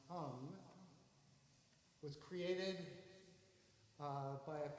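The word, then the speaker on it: hang: of you don't know the hung spelled h-a-n-g pronounced hum was created uh by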